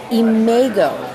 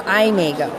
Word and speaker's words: imago: the day hello no is a may go in a go or I may go because on how yarn